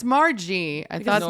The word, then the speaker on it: Margie: I was gonna say I've been saying Margie, and I've heard other people at open mic say Marge, and then I thought, am I saying it wrong? No, it's Margie.